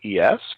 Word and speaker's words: Marques: You can follow him on Twitter at Marques, Marquess. Probably not how you thought you were going to spell that, Eversoll. Michelle was asking, how do I pronounce his first name again? I said, it's Marques.